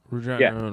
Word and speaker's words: Regina: Regina rhymes is fun. Regina rhymes with fun.